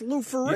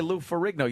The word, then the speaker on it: Lou Ferrigno: It's just Lou Ferrigno. You just say Lou Ferrigno.